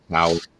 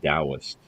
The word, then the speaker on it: Taoist: that it's not pronounced Taoist. The T is a D, so it's pronounced Taoist.